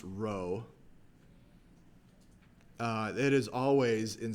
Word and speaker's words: rho: letter row rho O It's pronounced row uh it is always